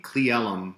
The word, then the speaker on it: Cle Elum: kid, and and it's a weird enough name, CleElum. That's how you pronounce it.